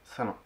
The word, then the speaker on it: Salin: Donc pour commencer, mon nom, ça se prononce Salin. C'est un peu compliqué avec l'orthographe, mais c'est Salin.